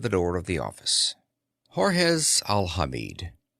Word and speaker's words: Jorge: Jorge Alhamid. In spite of the French spelling, he pronounced the name George in the English manner.